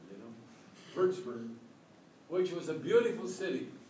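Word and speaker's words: Würzburg: bsur W urts wburg the W's in German are pronounced like V verburg you know verburg which was a beautiful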